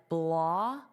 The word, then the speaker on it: blockade: And notice the pronunciation of this ending is aid, aid, aid. Now, because of the way the syllables will be divided, it will sound more like blockade. So, you'll hear this K sound on the aid.